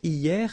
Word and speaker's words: hier: Hier means yesterday, okay? Hier. So remember, this H here is not pronounced, okay?